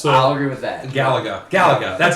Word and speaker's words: Galaga: Galaga.